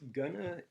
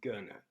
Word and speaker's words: gonna: way this works is Gunna is a spoken form of going to and going to often is pronounced as Gunna and when that happens